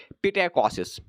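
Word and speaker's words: psittacosis: तो हमें एग्जाम्पल देता है पैरट फीवर की, ठीक है, या इसको बोलते हैं पिटेकोसिस। इसका एस साइलेंट रहता है, पिटाइकोसिस, ठीक है, जो हमें जो पहले पाया गया पेरिस में कब 1892।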